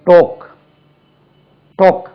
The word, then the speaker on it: talked: யா docking பாருங்க, அது டோக்கிங், டோக், டோக். இடி சேத்தா டாக்ட், டாக்ட், TALKED, டாக்ட்.